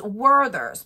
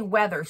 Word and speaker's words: Werther's: do you say it it's werthers but I always say weathers you guys know that but it's Werther's